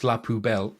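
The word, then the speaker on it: LaPoubelle: And then Felix Laubel, Benny Urkades's character name. That's pronounced the same way as Pubel, which is French for garbage can.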